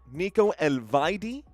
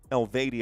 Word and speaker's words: Elvedi: Backline here, Ricardo Rodriguez, Manuel Akanji, Nico Elvedi. Elvedi, I think, is actually how it's pronounced.